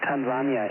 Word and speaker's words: Tanzania: They pronounce it Tanzania in Tanzania. Wonderful. Yeah, I just wanted to make it more difficult for you guys to understand it. No, seriously, they do. It's Tanzania, they do. Well, I thought I'm the only one saying it. No, that's cool. Okay. Whatever. The rest of the world doesn't pronounce it that way, but I guess we're wrong.